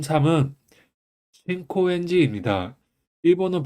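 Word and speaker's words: 新高円寺: 합쳐서 미나미 아사가야 미나미 아사가야라고 읽혀집니다 m 3은 신코엔지 있니다 일본은 발음을 읽으면 신코엔지입니다 그 한자 같은 경우는음 실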